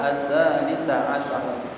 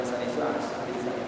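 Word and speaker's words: ثالث عشر: Wahia asalisa asyara, bacanya jangan salisa asyara, yaitu tanggal 13, wataliyah, dan berikutnya 14, 15, illa, kecuali fil hajjah, dalam kondisi haji.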